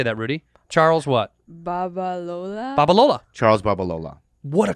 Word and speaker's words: Babalola: Let's have Rudy pronounce it. How do you say that, Rudy? Charles what? Babalola.